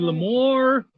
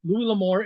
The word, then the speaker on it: L'Amour: Yeah, guys, it is Louis L'Amour. Is it L'Amour? L'Amour. Is it? I think it's pretty much pronounced L'Amour. L'Amour, but it isn't spelled it's L'Amour. The English, not the French.